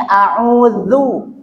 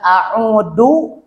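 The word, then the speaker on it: أعوذ: Atau diganti dengan dha, a'udzu, a'udzu. Itu dha. Yang ini a'udzu. Ya, bukan a'udu atau a'udzu.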